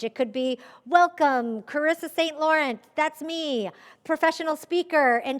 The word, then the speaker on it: Saint Laurent: My last name is Saint Laurent, but I don't pronounce it that way. I wish I did. But it's Saint Laurent, and it's spelled like the brand, so saint is spelled out.